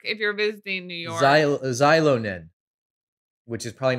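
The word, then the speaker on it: Xilonen: X-I maybe. Is Z, right? Ish. Yeah. Zilo. Anyhow, they're fantastic. Zilonin?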